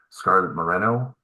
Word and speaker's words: Scarlet Moreno: We've got Scarlet Moreno. Am I pronouncing that correctly?